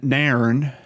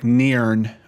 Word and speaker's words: Nairn: this takes place in Narron I hope I'm saying that right I've heard it pronounced on a couple videos it's almost like Niren but may urn like they're two separate sounds Nairn is a town